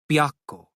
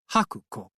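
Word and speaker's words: 白虎: In Japanese, the character for white could be pronounced Haku, and Ko was one of the pronunciations of the character for tiger. When the two were combined to refer to the legendary white tiger, they were actually pronounced Byakko. But if you didn't know that, I guess you might mistakenly pronounce them Hakuko.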